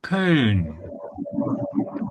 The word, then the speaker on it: Köln: So you know Cologne with its English name, but in Germany people say Köln.